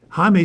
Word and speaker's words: Jaime: Spelled Jaime Jarrin, but it's pronounced Jaime Horin.